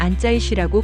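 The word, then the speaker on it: 安在旭: 중국 팬들은 안재욱을 안짜이슈라고 부르기 시작했어요. 이건 그의 중국식 발음인데, 이 이름이 중국 전역에 퍼지면서 안재욱은 거의 전설 같은 존재가 됐어요.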